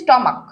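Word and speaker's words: stomach: তারপর প্যাট্রিয়াক, প্যাট্রিয়াক, তারপর হচ্ছে স্টমাক, স্টমাক্স, প্রত্যেকটার লাস্টে আমরা এস বসেছি। কারণ কি, প্রত্যেকটার লাস্টে কিন্তু সি এইচ আছে অলরেডি আমার, কিন্তু এটার উচ্চারণ কার মতো হয়েছে, ক এর মতো হয়েছে।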